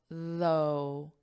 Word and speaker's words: though: the pronunciation of though it has the voiced th and then just an O though o it's the exact